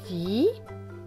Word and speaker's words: dit: Tom dit. Là, vous voyez, le T est écrit en gris, donc il ne se prononce pas.